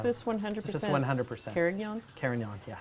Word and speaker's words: Carignan: How come the Italians say Carignan sometimes? Carignan. Carignan. The grape is still widely planted in France, and Oh, yes. but Spain, Yes. big time But Spain. Spain, yes. Spain, Or and it's spelled yeah. with an E at the end.